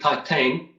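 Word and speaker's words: Titane: let us know yeah it's titan i guess my people pronounce it titan um french movie female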